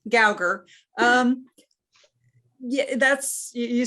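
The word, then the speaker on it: Gougar: That 1890s when Helen, how do you say her name, Gugar? The people in Lafayette say Gauger. Other people say Gugar. So okay. I go with Lafayette. All right, Gauger.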